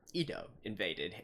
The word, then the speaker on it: ID:Invaded: with episode free of it invaded or Edo invaded for those who prefer to eat Japanese pronunciation but yeah anyways last